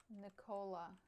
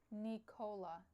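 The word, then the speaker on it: Nikola: How to how to pronounce Nola? Nicola. Nicola.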